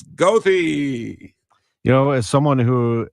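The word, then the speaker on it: Goethe: you know and and for the German students who see g o e t he e it is not Gera it's GOI you know as someone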